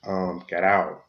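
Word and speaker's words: גָּדוֹל: This is H1419, and this is the Hebrew word that word great is translated from, and you will pronounce this gadal.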